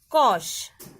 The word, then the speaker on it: cosh: Hyperbolic sine, proper pronunciation is shine, and hyperbolic cos, proper pronunciation is cosh.